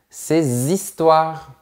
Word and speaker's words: ses histoires: Voilà d’autres exemples : vos enfants trois éléphants ses histoires Attention, ici le H est muet, donc on fait bien la liaison : ses histoires.